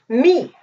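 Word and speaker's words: מי: This is pronounced me.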